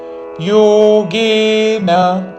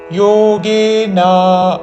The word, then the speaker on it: యోగేన: నైవ అనన్యే నైవ యోగేన యోగే రెండు దీర్ఘములు చివరిలో న హ్రస్వము. యోగేనా అని దీర్ఘము పలకకూడదు చివరిలో.